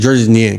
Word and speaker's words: Georges: It's spelled Georges, but I'm pretty sure they pronounce it like Gorgeous.